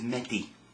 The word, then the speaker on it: Medi: something o u s OU that's how it's pronounced OU so that's August September is Medi m d e Medi okay October is HEV